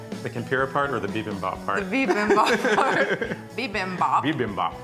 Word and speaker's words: bibimbap: how to make, which is, I can never pronounce it right. The tempura part or the bibimbap part?